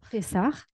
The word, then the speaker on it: Pessah: I do have I want to quote the book and I want to talk about your first Pessah, or I'm not sure how to pronounce it, Pessah. Pessah. Yes.